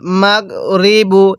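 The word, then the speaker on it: المغرب: এরপরে কিভাবে পড়বো ওয়াল মাগরিবু এটা গইন এই গইনটাকে গইনের মত করে উচ্চারণ করতে হবে কিভাবে পড়বো ওয়াল মাগরিবু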